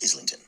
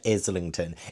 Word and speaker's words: Islington: The Will of the Many, written by James Islington. Islington. He said Islington, and I knew. So I was saying in my videos when I was like talking about this book, I said Islington, and so many people were telling me that's